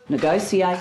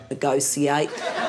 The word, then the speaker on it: negotiate: long as you learn how to say the word negotiate I mean no one says propitiate one never hears initiate you know we don't appreciate it when you say negoiate you never say substantiate